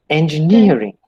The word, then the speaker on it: engineering: longman any other dictionary see the first word is pronounced as engineering okay it begins with a rather than e the other one i